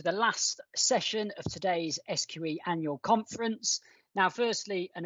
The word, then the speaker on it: SQE: stands for the solicitors qualifying exam some people pronounce it squee but we're not that fun we're a serious regulator so we pronounce it sqe but then the other acronym we'll be using